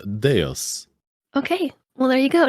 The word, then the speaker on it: Deus: as well it is it is Latin and it is Deus okay well there you